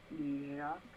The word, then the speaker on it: Iraq: Where would the stress be on Iraq? The final syllable.